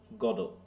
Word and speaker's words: Godot: Syllabus like English does, so in French it would be a flat গডো।